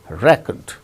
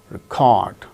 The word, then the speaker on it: record: is used as noun the first syllable gains stress record second syllable gains stress when it is used as verb record we make we go